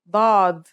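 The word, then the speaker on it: ضاد: Pod The next letter we learn is dad. This one is like a strong version of the dal, kind of like the d in the word daughter.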